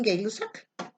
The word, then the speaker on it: Gay-Lussac: La tercera ley es la ley de, se escribe Gay-Lussac, pero le dicen Gay-Lussac. Bueno, como guste.